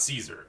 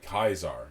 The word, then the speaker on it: Caesar: Whereas like the actual like Caesar it's not Caesar. It's Khazar. Kaisar. Yeah. Kaisar.